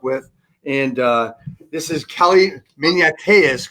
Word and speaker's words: Maniateas: And this is Kelly Maniateas, correct?